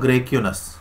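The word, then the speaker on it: Graicunas: तो इसे देने वाला जो व्यक्ति था वो था ग्रेक्यूनस। स्पेलिंग है GRAI, ग्रेक्यूनस, ये है, ये है ना, ग्रेक्यूनस, ग्रेक्यूनस, ठीक है ना, ग्रेक्यूनस।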